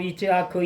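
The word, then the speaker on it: יִצְחָק: 이 함께 아브라함 이츠하크 이삭 원어는 이츠하크래. 한글로 이삭이라 그래요.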